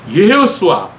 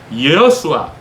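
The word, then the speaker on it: יהושע: 히브리어로 정확하게 표현하자면, 발음해보자면 예호수아, 예호수아 이렇게 발음을 해야 돼요.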